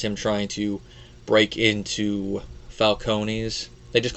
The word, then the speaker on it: Falcone: But I'm just going to go with how they pronounce it in the film, and that's Falcone.